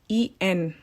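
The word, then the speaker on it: 縁: And it's called En, E-N. How you pronounce it is En.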